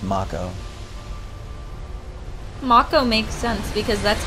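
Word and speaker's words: Mako: it's mock oh I want to call it Maiko but I know it's Marco Marco makes sense because that's how you pronounce off and Oh in Japanese oh look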